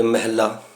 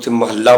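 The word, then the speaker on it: ਮਹਲਾ: सिद्ध कर देने के महल या महल्ला उच्चारण करना गुरबाणी शब्द दे सर्ले उपर जि लिख हो है महला पहला दूजा तीजा चौथा उ महल्ला पढ़ना अशुद्ध है तो इतने होर सबूत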